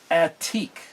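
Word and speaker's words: עתיק: There's a certain word that's spelled Ayin, Tav, Yod, Kuf, and it would be pronounced Atik.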